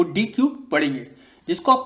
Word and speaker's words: deque: आज जो हम पढ़ेंगे वो डी क्यू के बारे में पढ़ेंगे। डी क्यू आपका क्या है, जिसको आप प्रोनाउंस कर सकते हो डेक।